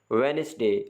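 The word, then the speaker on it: Wednesday: है H silent है वेनसडे D silent है सैंडविच डी साइलेंट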